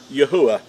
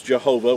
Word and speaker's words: Yahuwah: past, you know that his name is pronounced as Yahuwah. And it represents 4 Hebrew letters, and when they're pronounced and sounded out, then you'll have the pronunciation of Yahuwah. Now, in a lot of misinformation out there, he's referred to as Jehovah, which he never was called Jehovah, and that's a made-up name.